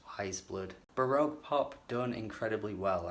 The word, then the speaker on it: Weyes Blood: did, but at least I now know it's Weyes Blood.